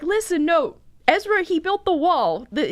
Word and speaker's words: Ezra: page of Israa and he pronounced it as pizza like he came up to me and I was like look it's the book of Pizza and I was like that's Ezra buddy and he's like no